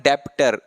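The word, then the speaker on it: debtor: इसको बच्चे पढ़ने हैं डेप्सर बी इसमें साइलेंट रहेगा आपका इसका मतलब डाटा क्लियर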